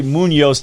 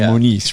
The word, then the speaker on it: Muniz: I was worried about that, I kept saying, I'm probably going to say Munoz just out of it's more common than Muniz, right?